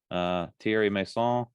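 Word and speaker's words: Thierry Meyssan: It got a little hairy in a couple spots, a lot of pot shots thrown from everybody, but Thierry Masson, wow, I finally said it right.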